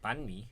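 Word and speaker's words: bánh mì: Banh mi?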